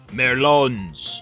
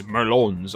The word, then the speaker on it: merlon: But the boundaries around you are topped with these Merlons. Those are the little hidey portions on castle walls. They're pronounced Merlins, I'm just being stupid.